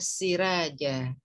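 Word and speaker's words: سِرَاجًا: Nah, dibacanya bagaimana? Siraja. Siraja. Jangan ragu ya bacanya ya. Jadi benar-benar ra, siraja, mubasyira wa nadhira.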